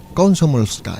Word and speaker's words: Komsomolskaya: Komsomolskaya. Muy bien pronunciado, Azuaga.